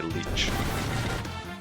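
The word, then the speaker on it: lich: It's a leech. It's spelled L-I-C-H.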